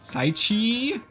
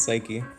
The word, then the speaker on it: Psyche: but uh is it is it saichi it's psyche psyche got it um so